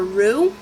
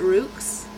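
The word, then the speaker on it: Roux: they their names are Rue and Reed Ru means red in French and it has a silent X at the end so people might pronounce it Rooks or yeah Roots Rooks yeah with the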